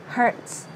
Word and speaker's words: hurts: Đầu tiên là hurts. Trái tim là hearts. Còn làm tổn thương là hurts, hurts, hurts.